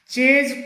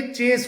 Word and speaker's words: chase: ऐसे ही CHASE, इसे चेज करना बोला जाता है, चेज, चेज नहीं होता, ये चेस होता है, चेस।